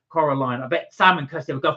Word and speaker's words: Coraline: was we saying I I was saying coralan I think that was my fault sorry guys that was me but because I've not seen it I wasn't sure how to pronounce it Coraline I bet Salon Cy